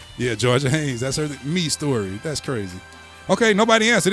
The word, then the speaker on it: Mistory: But it's pronounced Me Story, but it's spelled MISTORY. If y'all read that, wouldn't you say mystery?